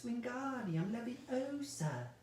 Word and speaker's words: Wingardium Leviosa: a wooden you know you're saying it wrong Harry heard Hermione snap its Wingardium Leviosa make the gone I